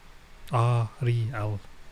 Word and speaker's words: Ariel: Ariel. It's like Greek pronunciation, Roman letters.